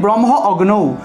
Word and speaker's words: ব্রহ্মাগ্নৌ: করতে পারি, তাহলে হবির ব্রহ্ম অগ্নৌ, হবির ব্রহ্ম অগ্নৌ। অথবা যদি ব্রহ্মাগ্ন উচ্চারণ করি তাহলে একটু টান দিয়ে বলতে হবে যেন আকারের উচ্চারণটা স্পষ্ট হয়, ব্রহ্মাগ্নৌ হবির ব্রহ্মাগ্নৌ যদি